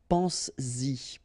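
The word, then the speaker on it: penses-y: But then if you put this Y, so this pronoun after, then you will have to put back this S just to produce it orally, because you will pronounce it pense-y, pense-y, okay?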